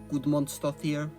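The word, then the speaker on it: Guðmundsdóttir: Björk aside from me finally learning how to pronounce her last name. Gudmundsdóttir.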